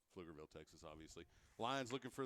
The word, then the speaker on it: Pflugerville: crazy mark signals the P here as we're in a town where every F sound is preceded by silent P Pflugerville Texas obviously lions looking